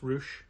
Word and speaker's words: Rush: It's pronounced Roosh, like the wrestler.